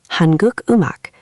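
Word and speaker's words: 한국 음악: Liaison only happens when the next syllable starts with that silent ung. But watch what happens when we say Korean music, hanguk umak. The guh from guk moves to the ung of um. So it becomes hangu imak.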